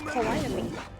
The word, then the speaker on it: Calliope: I've been told it's Calliope is how to pronounce that.